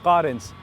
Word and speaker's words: Carens: fourth product is this the kia currents and yes that is how it is pronounced now what he is